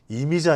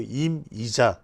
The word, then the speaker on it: 임이자: 발음을 잘해야 됩니다. 이미자 아니고 임이자.